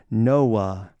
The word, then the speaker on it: Noah: a man named noah we often pronounce his name with the silent h noah but the last character